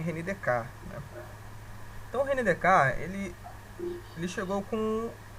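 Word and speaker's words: René Descartes: chamado René descarte né No Brasil a gente chama de Descartes mas a pronúncia francesa mesmo é renidecar então Renner ele chegou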